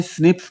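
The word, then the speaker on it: SNPs: पॉलीमोर्फस कहते हैं और एसएन पीस को शॉर्ट में स्निप्स प्रोनाउंस करते हैं एसएन पीस की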